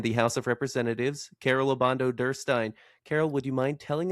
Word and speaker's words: Obando-Derstin: 7th district in the House of Representatives, Carol Obando Durstein. Carol, would you mind telling us a little bit about yourself? First of all, great job on the pronunciation. Obando Durstein.